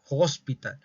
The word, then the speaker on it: hospital: are in the hospital hospital esta H muchos dicen que es muda pero no no es muda sí se tiene que pronunciar habrá oraciones en la